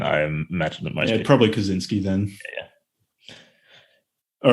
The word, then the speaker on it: Kaczynski: ted kaczynski is it do people pronounce it the polish like kaczynski or do most people call him kaczynski uh well they're his american i imagine that mostly probably kaczynski then yeah all right